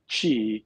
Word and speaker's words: qi: to do with uh qi q i pronounced like c-h-i so so q i is is g right so spelt the same way as c-h-i and the interesting part